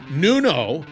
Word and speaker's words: Nuno: All right, once again, that's Nuno, because I mispronounced it in the beginning.